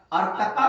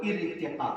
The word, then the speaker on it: ارتقا: بیٹھتے ہیں۔ اب جیسے ایک بچہ کئی بار بولا ارتقا، ارتقا نہیں ہے، وہ ارتقا ہے، جس کے معنی ترقی